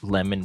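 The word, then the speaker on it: Lemmon: And just the way he Lemon pronounces, it's Lemon, right?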